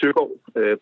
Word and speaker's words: Søegaard: But it's actually Søegaard, but it's really close, your pronunciation.